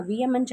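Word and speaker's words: vehement: இந்த வேர்டு நம்ம வியமெண்ட் அப்படின்னு தான் ப்ரொனவுன்ஸ் பண்ணணும்.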